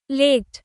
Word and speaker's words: late: Long a, same consonants as let, but the silent e changes the vowel completely.